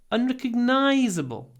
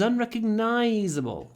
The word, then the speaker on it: unrecognizable: I couldn't recognize her because she was unrecognizable. Unrecognizable. When you pronounce long words like this, try to make the unstressed syllables really short. She was unrecognizable.